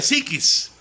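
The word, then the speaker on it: ψυχή: es soma para alma se escribe su che y se pronuncia psiquis y para espíritu en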